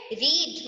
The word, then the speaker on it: read: ना, रीड same है, बट इसे प्रोनाउंस कैसे करते हैं, पास्ट का है तो रेड, रेड।